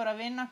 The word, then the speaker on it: Ravenna: posto lo farebbe anche io dico ravenna con la è aperta voi come dite monza